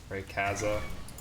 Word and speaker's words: Rayquaza: is Rayquaza which I'm pretty sure is based on quazars so I've always pronounced it Rayquaza but I've heard so many different variations of that name Rayquaza Raya Ray Kaza Q's can do a